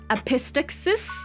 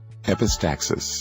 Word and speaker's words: epistaxis: learn that it's one of my favorite words epistasis epistaxis I cannot say it freaking I'm going to I'm going to search it up how to pronounce epistaxis epistaxis oh I was right epistaxis epistaxis nose bed